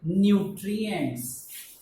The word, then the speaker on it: nutrient: to our body needed nutrients nutrients now we again need to learn this word sometimes we pronounce it no but here we pronounce it new 3 t r i